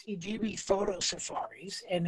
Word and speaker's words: Idube: Yeah, basically it's Idubee Photo Safaris, and it's spelled IDUBE Photo Safaris, IDUBE PHOTO Safaris.